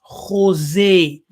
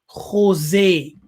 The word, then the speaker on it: Khozeh: So we have Khozeh. That's the Yiddish for a seer. Yes, here, a seer. Now, the KH has the sounds as G. Yeah, G. So you pronounce it as Khozeh. Khozeh.